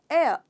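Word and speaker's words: heir: इसका प्रोनाउंसिएशन है एयर, यानी कि एच साइलेंट है इसमें, एयर।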